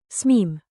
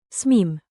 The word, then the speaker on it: smím: Answer, "smeem". Two, fill the blank. Blank "otavet okno?" May I open the window? Answer, "smeem".